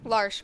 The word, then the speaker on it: Larche: Large, perfect. Said perfectly. Spell it for us.